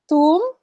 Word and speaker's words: tomb: if it's ending in m and b more often than not it's silent okay so tom not tom tomb wednesday we don't say